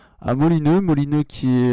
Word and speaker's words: Molineux: voir les matchs à Molineux. Molineux qui est, je sais pas si je prononce bien d'ailleurs, c'est peut-être autre chose. C'est ça, c'est ça. Molineux Ça fait qui très est.